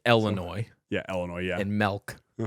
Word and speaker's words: Illinois: say the yes oh Illinois policy yeah okay Illinois I don't I was like oh boy you just pronounced the S I do say Washington you also say Illinois yeah Illinois yeah and